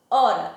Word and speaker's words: hora: que ele é murro no caso da palavra hora eu não tomo sim som do H pronuncia o som do Ó o r e doar